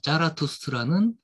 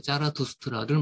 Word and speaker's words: 차라투스트라: 뭐 실제 발음이 이 차, 아, 죄송. 요, 이제, 짜, 하고 차의 중간 정도 됩니다. 독일어의 이 Z 발음이.